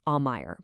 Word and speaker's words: Aumaier: That's pronounced Aumaier, by the way.